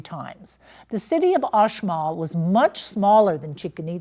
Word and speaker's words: Uxmal: Now, the other city is Uxmal, and it's spelled Uxmal, but I believe the pronunciation is Uxmal. I actually went on Google and listened to it.